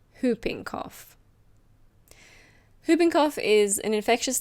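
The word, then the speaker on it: whooping cough: Now we have Hooping Cough. Be careful of the pronunciation. The W is silent. It's hooping cough.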